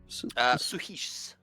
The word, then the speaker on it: Suhis: How do you say her name? Suhis. Suhis? Yeah.